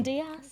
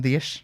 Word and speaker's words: Dias: João Cancelo, Ruben Diaz. Ruben Dias. Yeah, that's the. They got great pronunciations going on.